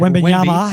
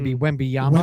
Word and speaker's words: Wembanyama: Everyone just keeps talking about this big, pronounce his name. Wembanyama. I just go with Wembyama.